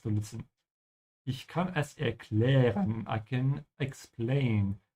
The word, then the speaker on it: erklären: Ich kann es erklären. I can explain. Make sure to pronounce the umlaut here. It's ä. Ä, erklären.